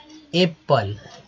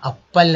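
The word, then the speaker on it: apple: जैसे कि एप्पल, यहाँ अप्पल नहीं बोलेंगे, अप्पल बोलेंगे तो वो क्या हो जाएगा, हमारा प्रोनाउंसिएशन गलत हो जाएगा।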